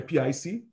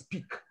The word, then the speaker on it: PIC: we call it a pic made by microchip but the representation actually is peak peripheral interface control is actually pronounced peak by the manufacturers not pic peak so after they're